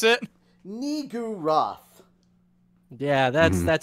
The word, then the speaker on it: Niggurath: I didn't try to pronounce it. Niggurath.